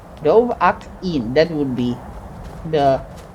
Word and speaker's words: Dovahkiin: They blessed and named him Dovahkiin. Or Dovahkiin. No, Dovahkiin. Dovahkiin, that would be the pronunciation.